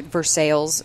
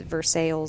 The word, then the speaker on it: Versailles: in versailles missouri uh or versailles is the missourians call it yeah no seriously it's it's spelled versailles like pair in france but um it's versailles so um it's but